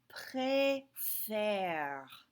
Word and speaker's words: préfère: of an E, okay, that E is silent, this changes to a sound instead of a sound. So instead of préférer, it changes to préfère, okay? And because this sounds exactly the same, préfère, it has the accent grave.